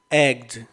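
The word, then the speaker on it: eggs: शब्द लिखा है ना, तो यहाँ एग नहीं, एग्स नहीं होगा उच्चारण, इसका उच्चारण होगा एग्ज।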